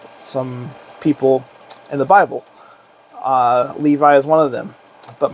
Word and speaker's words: Levi: My name is actually pronounced Levi.